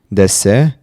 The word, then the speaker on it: DS: play on words as in French it is pronounced like the word uh Des meaning godas different Spirit wow huh interesting right